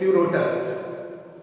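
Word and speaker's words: Pleurotus: is uh Lotus this p is silent and pronounced as Lotus okay so these three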